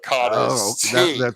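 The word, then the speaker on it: cara: And but when they pronounce it, it sounds like it's a T, right?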